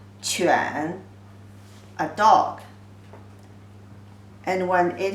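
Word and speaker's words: 犬: a kind of dog the pronunciation is third tone chuan a dog and when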